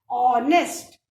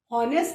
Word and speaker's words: honest: ऑनेस्ट, हॉनेस्ट नहीं बोलते, H silent होता है, तो ओ का साउंड आ रहा है, ऑनेस्ट, सो एन लगाया।